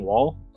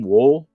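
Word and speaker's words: Woll: Uh, Deborah, but um Deborah Anne Wall is her name. Wool. Wool.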